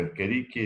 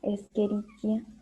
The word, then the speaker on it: Escherichia: La pronunciación correcta es Escherichia, ¿no? Pero normalmente muchos dicen Escherichia.